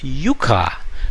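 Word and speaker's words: yucca: it help the yoka so last time I said I'll figure out how to pronounce this word y u CCA well it turns out that it is called Yuka in Spanish and maybe some Hawaiians call it Yuka but most of the Americans and the Europeans seem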